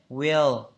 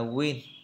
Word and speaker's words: will: Đưa lưỡi lên. Will. Chứ không phải là win. Tôi thấy nhiều bạn hay phát âm từ này sai. Phát âm thành win thì như thế không đúng. Phải đọc là will.